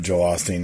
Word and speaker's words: Joel Osteen: Number 1, 2, 3, 4, 5, Sunday, Joel Osteen. Is that how you say his name? Yep, Joel Osteen, yeah.